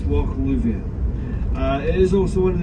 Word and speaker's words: Lubhair: Lubhair, it's spelled L-U-B-H-A-I-R. If you put the B and the H together in the Scots Gaelic language, it creates a V. So it's Loch Lubhair.